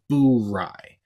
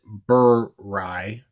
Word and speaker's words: Bourye: And to be clear, it is pronounced Bourye. I've heard a few people mistakenly pronounce it Bourye.